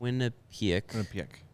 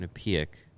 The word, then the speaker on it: Quinnipiac: Quinnipiac. Yep. Quinnipiac. I want to pronounce it right because there's people that will get on my case if I pronounce it incorrectly.